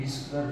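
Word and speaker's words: visceral: ये हमारा है विस्करल फ्लूइड, विस्करल VISCERL, विस्करल। विस्करल बोले हम, एक्चुअली मेरा जो सी है वो साइलेंट नहीं करते हैं, तो आप मानिएगा मत, विस्करल बोलते हैं दोस्तों इसको।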